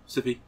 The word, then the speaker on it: Syfy: Syfy. SYFY. Syfy. That is how you would pronounce that, yes.